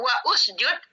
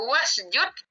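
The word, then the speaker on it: وَاسْجُدْ: wasud kenapa enggak dibaca WA usjud karena alifnya ini Alif bantu Kalau ada Wa sebelumnya tidak perlu Dibaca wausjud tapi alifnya tetap ada ditulis Jadi dibacanya wasjud waib wasjud waqib kalau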